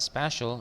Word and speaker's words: special: Okay, what do you think the Heroes Day took that special? Bacanya hati-hati, bukan spesial tapi apa? Special ya.